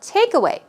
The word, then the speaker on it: takeaway: And also takeaway. It's one word. Stress goes right there on the first syllable, and we're talking about an outcome or a result of something.